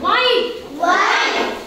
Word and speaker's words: white: h h is silent h is silent White